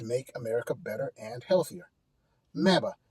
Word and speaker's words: MABA: MABA. M A B Ah, rhymes with MAGA, only a lot better.